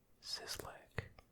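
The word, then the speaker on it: Szyslak: Make sure I spell it right. S Z Y S L A K. It's Mo Sislak.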